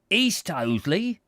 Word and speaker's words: East Hoathley: we should have imagined owing to the curious local pronunciation of the names of places east oatley he repeated in reply to our